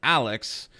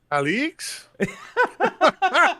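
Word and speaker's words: Aleix: pronounce this name uh even though it is pronounced Alex it is spelled a-l-e-i-x Alex Alex well I just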